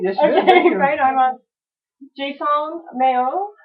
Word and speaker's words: Harnois: Brian Harnois. Did I pronounce that right? Yes, you did. Okay, Brian Harnois.